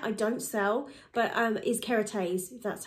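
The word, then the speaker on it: Kérastase: using my hair I don't sell but is carotene that's how you pronounce it always have done I've tried others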